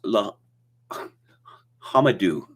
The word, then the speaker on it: L'Homme Dieu: There's a lake in Minnesota, says Jim Smith, called L'Homme Dieu, pronounced La Hamadou.